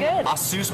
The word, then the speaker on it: Asus: done no no no no I'll send the Asus people after you I think it's time we